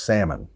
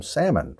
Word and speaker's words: salmon: answer there is salmon the L is silent we don't pronounce that L so it's pronounced salmon would you like to have some salmon for dinner all right